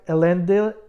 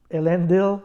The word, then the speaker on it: Elendil: character that I liked elendor if elendil yeah sorry I almost mispronounced it and the only time